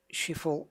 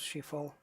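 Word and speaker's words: Schiphol: deluxe version brings uh shiful in the netherlands i think that's how it's pronounced she fall cairo pyramids just down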